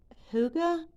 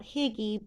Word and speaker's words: Hygge: This is Redheart, I believe it's pronounced Hygge. Yeah, Redheart Hygge yarn. Which to me it looks like it's spelled Higgy, but I'm pretty sure it's called Hygge.